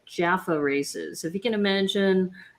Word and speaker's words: Jaffa: And I talked about the Jaffa races, but at the time I wasn't pronouncing it Jaffa, I was pronouncing it Jaffa.